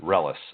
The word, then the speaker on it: Reles: My uh last name is Relis. R E L E S. Yeah. like you were saying it correct like Yeah, that's right. It's like Monica Celis Relis.